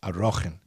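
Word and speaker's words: Arakhin: We call it Erchen. But it's, I think it's grammatically properly pronounced Arochen.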